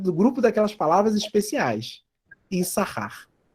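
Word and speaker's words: יִשָּׂשכָר: Issachar. Então, eu não leio esse sin aqui, tá bom?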